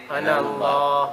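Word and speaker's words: أنا: Good, we didn't pronounce the alif. Ana Allah. Ana Allah. So there's no alif. Okay? That's the first alif in the Quran. It's in all the Quran. The ana in all the Quran is not pronounced.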